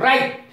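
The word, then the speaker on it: riot: ये आखिर इसकी अंग्रेजी क्या होती है, आपने अंग्रेजी भी सुनी होगी लेकिन स्पेलिंग आपको नहीं पता होगी। राइट, आर आई ओ टी, राइट, राइट माने दंगा,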